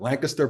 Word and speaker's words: Lancaster: It's here's how I pronounce it: Lancaster, Pennsylvania.